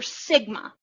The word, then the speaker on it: sigma: pronounced the Greek letter sigma. S-I-G-M-A, and I probably, no, I didn't type that. Sigma, S-I-G-M-A is how you pronounce it.